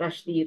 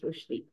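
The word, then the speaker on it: Rushdie: be so much more I have been saying uh Rashi Rashi but it is not it is rushi that's what I've been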